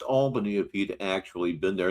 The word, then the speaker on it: Albany: He would know it's pronounced Albany if he'd actually been there.